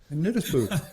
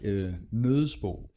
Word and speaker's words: Nøddesbo: Nøddesbo. If if you are a Dane, then you will like to say it like Nøddesbo.